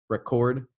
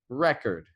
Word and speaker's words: record: and things like like two words that are spelled the same bus sound differently depending on the kind of word like record record record record one is a verb the other is a noun right so listen and